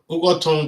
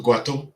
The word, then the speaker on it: Ughoton: UGHOTON was corrupted by the Portuguese to GWATTO because they couldn't pronounce UGHOTON.